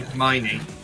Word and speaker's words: Hermione: Harmony, do you mean Hermione?